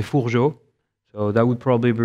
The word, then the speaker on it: Fourgeaud: that's my name uh it's a bit hard to pronounce and is probably the way to say it um in french we say fujo so that would probably